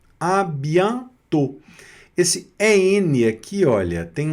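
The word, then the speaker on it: à bientôt: Nesse caso aqui, o o com o circunflexo vai pronunciar também como se fosse eh fechado mesmo, igual no português aqui no O, tá certo?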